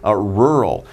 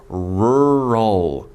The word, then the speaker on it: rural: But if we go to the country, then we say we are in a I was thinking about the pronunciation. Rural. Be careful because pronunciation's 힘들어. Rural, right?